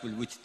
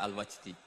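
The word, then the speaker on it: الوجد: Di dalam kitab Ihya terdapat Kitab al-Wujd . Sebagian orang membacanya sebagai Al-Wajdi.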